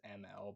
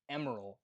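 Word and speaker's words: Emerl: get introduced to Emerald, who I've had to fight my childhood urge to pronounce as ML because I grew up with Sonic X and they mispronounced his name the entire time for no reason. So it's Emerald, Emerald, Emerald.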